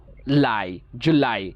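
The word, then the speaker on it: July: জু ল আই লাই জুলাই। লাইতে আমরা একটু স্ট্রেস দিয়ে বলবো, এখানে দেখেন একটা স্ট্রেস মার্ক আছে, উপরের দিকে দেখেন আপস্ট্রোক দেওয়া আছে, সো এটাকে একটু চাপ দিয়ে বলবো লাই, যেমন জুলাই।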